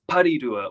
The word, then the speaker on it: Porirua: gosh, I need to start pronouncing Porirua as Parirua or Karori as Kaharore.